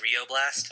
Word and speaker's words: Rio Blast: You realize it's pronounced Rio Blast? Really? Yeah, because it was like the Rio Grande. He's a cowboy. God damn it. Yeah, they punned Rio Grande with Rio Blast.